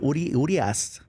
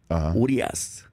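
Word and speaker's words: Urías: Urias. Urias, and that's probably because I got to throw the pitch at him.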